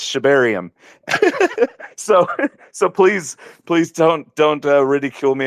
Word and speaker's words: Shibarium: I know how to pronounce it. It might be a Texas thing now. I don't know what it is, but for the record, I know it's Shibarium.